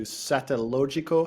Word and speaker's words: Satellogic: to Argentina, related to Satellogico. How do you pronounce Satellogico? Satellogic. Satellogic. We can do that.